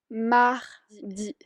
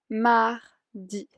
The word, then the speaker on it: mardi: De ahí, mardi, mardi.